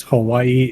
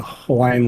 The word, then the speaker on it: Hawaii: Like a lot of people think it's Hawaii. It's actually every W in the Hawaiian language is actually a V, so it's actually Hawaii.